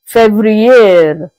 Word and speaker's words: février: February is being pronounced as février.